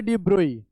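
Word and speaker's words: de Broglie: Louis Victor डी ब्रोग जिन्ह pronounce किया जाता है डी ब्रो Louis Victor डी ब्रोही right लेकिन हम यहां पर अभी डी ब्रोग्ली प्रोनाउंस करेंगे उसको बोलेंगे तो डी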